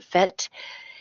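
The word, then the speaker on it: PhET: is director of research and accessibility for the fet am I pronouncing that correctly Emily yes yes oh great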